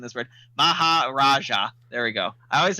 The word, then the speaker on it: Maharaja: Lash uh mahaj I hate pronouncing this word Mahar Raja there we go I always because so this